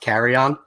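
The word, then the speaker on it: Kerryon: Because that's actually how his name's pronounced, Carry On. What did I say? You're saying Carry On. It's like Carry on my wayward son.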